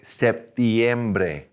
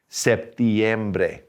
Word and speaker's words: septiembre: i-e-m-b-r-e okay so september we ought to put that little i in there say septiembre septiembre all right october gotta